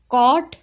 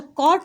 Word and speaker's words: caught: The tiger immediately caught hold ऑफ हिम, कॉट hold of हिम। अच्छा, कॉट word में आपको GH नज़र आ रहा है, इसको पढ़ना नहीं है, ये साइलेंट है।